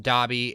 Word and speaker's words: Dobby: to mrs norris eyes it is pronounced dobby and the chat voted